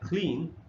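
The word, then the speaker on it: clean: अगर इसमें देखेंगे तो ई और ए दो वावल्स हैं, लेकिन ए जो है वो साइलेंट है, सिर्फ ई का साउंड है। ये रहा इसका ट्रांसक्रिप्शन, इसके हिसाब से इसका प्रोनाउंसिएशन बनता है क्लीन।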